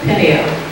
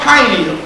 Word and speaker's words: Peniel: Peniel. Peniel. How about pineal? See, she pronounced it the way we've been taught to pronounce it.